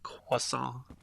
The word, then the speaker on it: croissant: We'll eat us a croissant. Although I have been told that according to the French it is croissant.